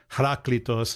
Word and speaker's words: Heraclitus: I always pronounce it as Heraclitus, but it's probably Heraklitos is probably what it is in Greek.